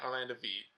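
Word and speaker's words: Wiet: and V you know it's spelled with a W but it's pronounced with a V it's V yeah Orlando V yeah like VG go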